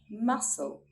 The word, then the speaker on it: muscle: We do not sound out the letter C when it comes before an I, E, Y, or after an S. Let's look at some examples. Muscle, muscle.